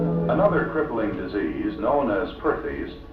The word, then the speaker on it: Perthes: Another crippling disease known as Perthes, pronounced Partes, was the demoralizing ailment that brought this little fellow to Spears.